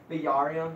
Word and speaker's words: Bjerrum: Bjerrum, that's how you're supposed to pronounce it.